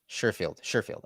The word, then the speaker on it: Sherfield: And I don't want to keep mispronouncing his name. Is it Trent Sherfield or Sherfield? Sherfield.